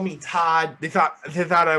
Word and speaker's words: Todd: my last name my last name is todd just like the first name todd yeah but it's spelled